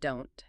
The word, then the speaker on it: don't: Tip 3, the silent T in don't and doesn't. That T is very often what linguists call a stop T. It means the speaker forms the sound in their mouth, but they don't release the air.